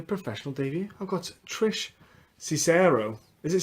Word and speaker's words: Cicero: I've got Trish Cicero. Is it Cicero pronounced?